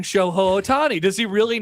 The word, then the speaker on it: Shohei: plays MLB The Show, and he purposefully incorrectly pronounces everyone's name. So he's talking about he's like Shohei Ohtani, but he says Shoho Ohtani, Mhm. and people will comment in. Why is this guy saying Shohei Ohtani?